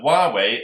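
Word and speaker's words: Huawei: like it's going ahead so why wait is spelt h u EI w e I so again H u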